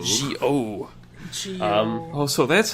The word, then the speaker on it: Zi-O: It's not Zi-O, it's Zi-O. Zi-O. Oh, so that's how you pronounce a Z. Yeah, it's you pronounce it like G. It's like between a J and a Z. It's a weird Japanese thing.